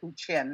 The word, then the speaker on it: Huichin: And for many years, I was saying it wrong, and I'm trying to recorrect it. But the entire Bay Area says it Huichin now.